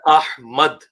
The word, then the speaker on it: احمد: بھی ہو گیا، کیونکہ یہ لفظ ہے احمد، میم زبر دال مد، تو جی یہ اے